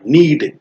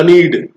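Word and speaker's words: knead: नीड। के एन इ ए डी। यहां के साइलेंट होगा। आप ऐसे नहीं बोलिएगा। कनीड कनीड नहीं होता है। नीड होता है।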